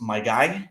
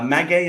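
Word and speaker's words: maguey: 100% M uh no it's not pronounced myy it's m uh magay is basically the plant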